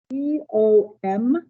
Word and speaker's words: commutative: C-O-M-M-U-T-A-T-I-V-E. You pronounce that commutative.